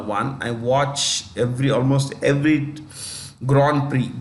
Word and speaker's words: Grand Prix: I watch almost every Grand Prix. Grand Prix, it's French. Grand Prix, P-R-I. The last letters are silent.